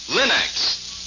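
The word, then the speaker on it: Linx: Remember to ask for them by name, Linex. It's spelled L-I-N-X.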